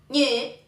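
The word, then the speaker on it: 女: Y se dice ñe, ñe, ñe.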